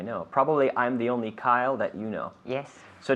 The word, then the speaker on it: Kyle: Kyle. Kyle. It's a difficult name. Say Kyle. it again. It's okay. a difficult Kyle. name to pronounce. It's like Kylie Minogue, almost.